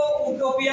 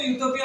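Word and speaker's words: utopia: तुम इसको उटोपिया मत पढ़ लेना। अरे तुम क्या करोगे? इसको उटोपिया पढ़ोगे, तुम बोलोगे उससे लोका आ रहा है, इसका मतलब ओल है। तो एन लगाओगे इसमें तो, जबकि गलत हो जाएगा तुम्हारा। अरे इसको यूटोपिया पढ़ते हैं।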